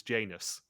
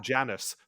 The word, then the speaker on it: Janus: Judi Dench as M could not pronounce Janus. She called him Janus throughout the entire game. And all me and my brother could do was just do impressions of Janice from Friends.